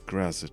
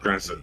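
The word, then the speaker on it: Graz'zt: It's Grazit, darling. It's Grazit. Say it correctly. Grazit, please.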